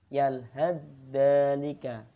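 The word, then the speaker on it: يلهث ذلك: Akan tetapi itu dibaca yalhadzalika. Yalhadzalika. Ya. Jadi huruf ta itu seperti hilang. dimasukkan ke huruf dzalnya. Jadi bacanya yalhadzalika.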